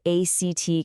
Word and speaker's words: ACT: This is the NeuroFlex ACT Compass. And just so we're all on the same page, ACT is pronounced just like the word act.